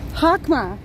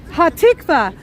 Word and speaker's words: Hatikva: Hakma, right? Hakma. Did I say it right? Hatikva. Oh, my short-term memory is awful. Hatikva. Y'all please help me with that.